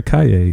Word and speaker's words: Kaye: Her last name rhymes with yippee-ki-yay. How do you pronounce, like, what's... Claire Kaye, like yippee-ki-yay.